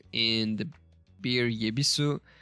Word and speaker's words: Yebisu: While obsolete, the kana is still used for creative purposes, like in the beer yebisu, which is pronounced ebisu, but uses the original spelling it had in 1890.